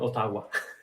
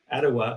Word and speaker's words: Ottawa: have this concept of different sounds for different syllables, right? So so for me, I was saying all the time Ottawa, right? Close Ottawa, enough. which I but when people were saying like Ottawa, I was like Iowa.